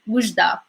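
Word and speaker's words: Oujda: So the W sound, Wujda.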